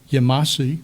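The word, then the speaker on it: Yemassee: interstate highways, the Low Country Visitor Center in Yamasee, which is the correct pronunciation according to the indigenous groups, and the Visitor Center in Port Royal.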